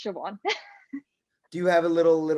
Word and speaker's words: Siobhan: I was like, it's Angourie and also it's Siobhan.